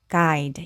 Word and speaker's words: guide: 그때 안내하다 guide 이렇게 돼요. 그래서 보시는 것처럼 이렇게 G 다음에 U가 왔을 때 U가 묵음이 되는 단어들이 있는데요.